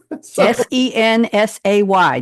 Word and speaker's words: Sensay: Sensay, just the way it's pronounced.